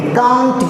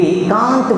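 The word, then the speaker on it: can't: American लोग बोलते हैं कंट, वी कंट गो देयर, हम वहाँ नहीं जा सकते। तो देख लीजिए, ये प्रोनाउंसिएशन है, उच्चारण में भी डिफरेंस है।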